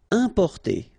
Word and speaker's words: importer: Importer, okay, I-M, then a consonant, so it's the nasal, un, un, importer, importer.